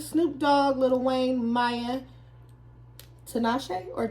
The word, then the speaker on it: Tinashe: Wayne, Maya, Tinashe or Tinashe? It's spelled like Tinashe. it's spelled like Tinashe. Tinashe. It's spelled like Tinashe. Right. But Tinashe. We're not gonna disrespect Tinashe. It sounds like a drag. Respect her name.